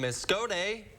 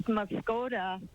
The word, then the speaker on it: Muscoda: now to Pat from Muscoda patch you there yes I am it's moscoda Mascota you've been schooled sorry